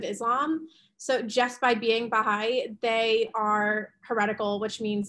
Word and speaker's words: Baha'i: say it wrong, but the Baha'i, B-A-H-A apostrophe, I'm saying that right, Dr. Cray? Yeah, okay, so because they are perceived as a heretical offshoot of Islam. So just by being Baha'i, they are heretical, which